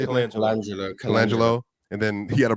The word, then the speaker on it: Colangelo: Colangelo.